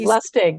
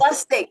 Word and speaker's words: Lustig: Is that how you pronounce his last name? Lustig, yes. Lustig.